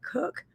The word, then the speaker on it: Koch: And her last name is spelled Koch, but I think she pronounces it Cook.